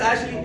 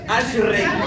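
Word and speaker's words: אשרי: Dichoso en el hebreo es una palabra que se llama ashri, no es ashle, es ashrey. Fue fue difícil pronunciar esa palabra.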